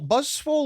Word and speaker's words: Buzzwole: Buzzwole? Buzzwole, yeah. Yeah. Okay, interesting. Very interesting, because it's obviously an Ultra Beast, so you'd like to think it's going to be quite, powerful. Buzzwole will kind of play like a Machamp that's